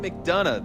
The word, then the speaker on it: McDonagh: And joining us for this conversation is Megan Mcdana, the director of revenue marketing at Celiggo.